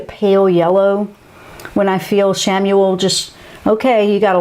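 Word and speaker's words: Chamuel: mindset okay now where does chamois come in samuel that is spelt c-h-a-m-u-e-l archangel samuel that one is wonderful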